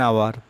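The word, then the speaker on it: hour: তারপরে অ্যান আওয়ার, উচ্চারণটা তোমার কি এ আওয়ার হয় না, এন আওয়ার হয়, অর্থাৎ আমরা এখানে এন লিখে দেব।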